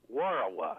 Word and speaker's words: Warawa: Warawa. Warawa. Underline the war. Sometimes it gets a lot easier. That's the syllables and the emphasis.